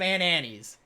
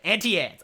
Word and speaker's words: Auntie Anne's: Every time I go to the mall, I have to get me some Aunt Annie's. Or Auntie Anne's. I always say it wrong, but Auntie Anne's.